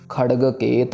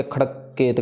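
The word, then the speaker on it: खड़गकेत: इस खड़ग केत को सही से प्रोनाउंस नहीं करते। खड़ग का जो गगगा है उसको कके में कन्वर्ट करके खड़ककेत कर देते हैं। खड़ककेत गलत है। बिल्कुल खड़ग का गगगा।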